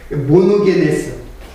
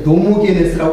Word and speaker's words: 모노게네스: 독생하신 예수 그리스도께서, 독생자가 거기 나오게, 모노게네스. 제가 지난 그 강론을 보니까는 발음을 좀 틀리겠어요. 노모게네스라고 계속 얘기하더라고, 내가. 모노게네스예요.